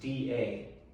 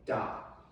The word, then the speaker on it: 大: or the romanization is d a da right and it's a downward tone four tones in chinese this is the downward tone so say with me